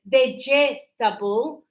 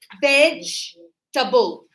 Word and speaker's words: vegetable: So, we don't say vegetable, we say vegetable. vegetable.